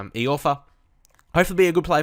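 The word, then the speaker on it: Iorfa: I kind of, checked it after the last couple of episodes, and it's E. Orfer.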